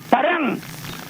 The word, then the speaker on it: parang: Because in Spanish, when you remove the DA and you say P-A-R-A-N, the N at the end of a Spanish word sounds like NG. When you pronounce, to give you an example, when you pronounce the word bingo, how many G's are you pronouncing? Observe well, you're pronouncing 2 G's. Bingo. And that's exactly how the N at the end of Spanish words sound ing.